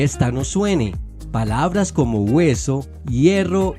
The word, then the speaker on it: hueso: Así, por ejemplo, huevo se sabía que se pronunciaba huevo y no bebo, o como en la palabra hueso, para no pronunciar beso.